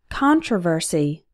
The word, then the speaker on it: controversy: Controversy. Controversial. Notice that the stress changes. In controversy, the stressed syllable is con, but in controversial, the stressed syllable is ver, yet the con is still pronounced like on.